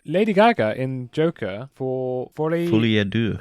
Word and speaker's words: Folie à Deux: look at the Lady Gaga in Joker for Folie à Deux. Folie à Deux, that's it. Thank you. I don't know how to pronounce French words.